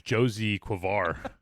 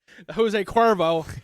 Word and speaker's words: Jose Cuervo: I always get the Jose Cuervo. Sorry. I thought it was Josie Cuervo. Jose Cuervo.